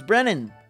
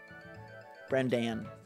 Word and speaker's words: Brendan: It's Brennan. What's up, Brennan? Brendan. Pronunciation 101.